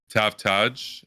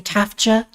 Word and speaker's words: Taftaj: do you pronounce it i think they get the the j and the a mix steps they'll say tafja is a common one it's a major